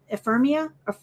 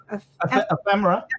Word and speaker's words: ephemera: Ephemera? Ephemera.